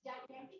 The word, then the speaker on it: gigantic: It's gigantic. It comes from the giant, and it is what we call in Urdu geometry.